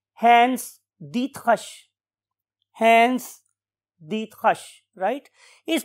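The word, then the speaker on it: Hans Driesch: diet रिश right लेकिन जब हमने इसको जर्मन लैंग्वेज में प्रोनाउंस करना सीखा तो हमें पता चला कि his name is hence Dutt hush hence Dutt hush right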